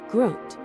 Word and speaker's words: Grund: Located at the bottom of a deep stone canyon carved out by the Alzette, pronounced Alzette River, lies the Grund, pronounced Groot.